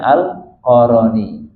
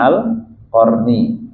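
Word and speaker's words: القرني: Ada juga nyebutnya Al-Qaroni. Karena sebuah apa nama sebuah kabilah. Ada nyebutnya Uwais Al-Qaroni. Kita nyebutnya Al-Qarni ya. Mungkin perbedaan cara baca ya.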